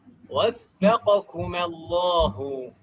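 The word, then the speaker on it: وفقكم الله: Waffaqakumallahu. Waffaqakumallahu. Waffaqakumallahu. Itu tasdidnya. Faqo. Tasdidnya salah tempat, Om. Harusnya waffaqa yuwaffiqu.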